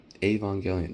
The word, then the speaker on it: Evangelion: Evang- Evangelion, yeah, that's how you pronounce it.